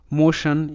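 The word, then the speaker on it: motion: ও এন সান হয় যেকোনো শব্দে টি আই ও এন থাকলে সান হবে অর্থাৎ টি এখানে স হিসেবে উচ্চারিত যেমন নেশান এন এ নে টি আই ও এন সান নেশান মোশান এম ও মো টি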